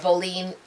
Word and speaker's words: boline: Boline, I know a lot of people say a boline, which is spelled B-O-L-I-N-E, or it could also be spelled B-O-L-L-I-N-E, or B-O-W-L-E-E-N, or it's enunciated as B-O-W-L-E-E-N, boline.